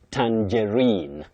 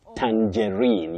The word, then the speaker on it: tangerine: You say tangerine. Tangerine. You say tan then J then rein with a stress.